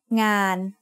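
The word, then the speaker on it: งาน: Ngo ngu, sara a, no nu makes ngan. Ngan means work. The ng sound of no nu makes it a live syllable, so it is mid-tone.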